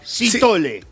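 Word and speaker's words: Sithole: Sitole, así se pronuncia, no de repente puedo decir, de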